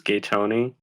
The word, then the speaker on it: Gaton: right how's it pronounced I pronounce it the way close to the way that I pronounce my real life name which is gayon because it's a Corruption